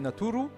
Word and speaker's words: necheru: Pour finir, necheru, prononcé naturu, est le pluriel du mot Dieu, et ten est le pronom suffixe de la deuxième personne du pluriel, vos.